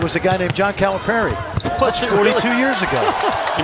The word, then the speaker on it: Calipari: It's Gonzaga. You and I have said it right all year long. It's not Gonzaga. It's Gonzaga, and it's Calipari, not Calipari. If you take nothing else